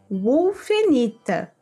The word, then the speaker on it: wulfenita: fica u ou vu Porém Aqui se pronuncia wulfenita que é uma pedra muito bonita muito bem x